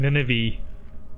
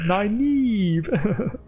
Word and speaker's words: Nynaeve: end of the book they say this is how you pronounce it, or supposed to pronounce it, is Egwene and Nynaeve, because I kept saying Nineveh and Egwene. No, it's Egwene and Nynaeve.